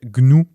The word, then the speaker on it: GNU: C'est le fondateur du projet Gnou. Gnou. Alors c'est ça s'écrit GN U mais ça se prononce bien Gnou.